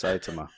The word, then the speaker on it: Saitama: No, it's Saitama.